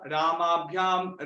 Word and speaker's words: रामैः: रामेण रामाभ्यां रामैः इति तृतीया। रामेण रामाभ्यां रामैः इति तृतीया। रामैः लास्ट में तृतीय विभक्ति के जो बहुवचन है उसमें लिखा है रामैः, ऐसे प्रोनाउंस करना है, रामैः।